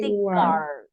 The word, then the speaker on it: guard: Security guard. Guard. We don't Security pronounce. guard. Yeah, we don't pronounce the U.